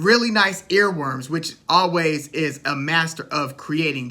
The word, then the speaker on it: Alvvays: we get deeper into always the album always the band is spelled with two v's instead of a w because there was another